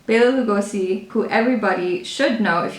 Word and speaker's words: Bela Lugosi: yeah i said it right okay basically it's bela lugosi bailey lugosi who everybody should know if you don't know